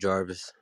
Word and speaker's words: Jarvis: Yeah, you after Garvis. So if Garvis don't say that, and Garvis, are you there? Yeah, I'm here. It's pronounced Jarvis. Oh, Jarvis. Okay, my bad, man.